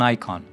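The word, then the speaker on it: Eikon: type monster called an icon. And it's spelled E I K O N, not I O N, but it's pronounced the same way.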